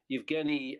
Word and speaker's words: Yevgeny: chap called yet um yevgeny uh or Eugene rather um uh yevgenius in a sort of alternative way of pronouncing that name in Ukraine uh Evgeni uh clotipenko um who